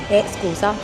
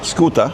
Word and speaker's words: scusa: Scusa. Eh? Scusa? Scooter? Scusa. Like scooter? No, scusa.